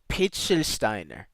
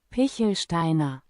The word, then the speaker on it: Pichelsteiner: I don't want to mispronounce the ch. How would the ch sound? I don't want to say maybe. Pitchelsteiner. Pitchelsteiner. Pitchelsteiner. Pitchelsteiner. Pichelsteiner.